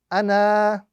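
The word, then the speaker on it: أنا: So it's a very simple rule. If we are reciting and we are continuing with our recitation, that alif must not be pronounced. If we are stopping on that particular word, then only the alif would be pronounced. So this rule is exclusive to the word ana, and it's something that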